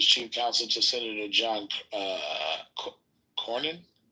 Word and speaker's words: Cornyn: counsel to Senator John Cornyn. Yeah, Cornyn's the right way to say that.